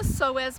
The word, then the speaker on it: psoas: It's called the psoas muscle. That's spelled P-S-O-A-S, the psoas or psoas.